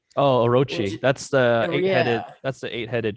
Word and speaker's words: Orochi: even know how to say it yamata no oraki oh orochi that's the that's the eight-headed dragon oh wow